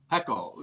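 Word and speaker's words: Haeckel: all right then let's go to is it pronounced hakel pickle yeah heckle your your scientists that you obviously admire and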